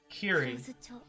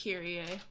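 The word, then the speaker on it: Kirie: Kiri. Oh, I don't have my notes right now. I think they pronounce it Kyrie.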